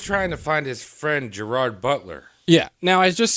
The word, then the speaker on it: Gerard: He's just trying to find his friend Gerard Butler. Yeah. Now, I just skipped right over... Are you Gerard Butler? Jabard.